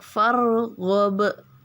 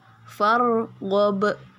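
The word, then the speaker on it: فَارْغَبْ: saja Kemudian rabbika rabbika farghab ya farob Yang di belakang itu Qalqalah Kubro ya seperti itu saja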